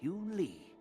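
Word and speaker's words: Yunli: This is my apprentice, Yoon Lee.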